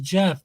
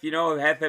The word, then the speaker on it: Jefe: She said Jefe is Jeff, but just because it's spelled like okay, I see. I kind of let her slide with that one because it's kind of brilliant though. Jefe, Jeff, Jefe meaning boss.